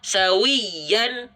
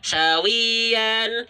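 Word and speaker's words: سَوِيًّا: pun sama sawiyal sawiyal sawiyyan Jadi bukan sawian sawian sawian ai-nya enggak dikurang ditahan itu ditahan yang lebih kuat sawian karena ada cara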